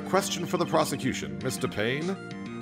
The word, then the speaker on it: Payne: Payne? Or is it pronounced Mr. Pine? No, it's Mr. Payne. It's a pun.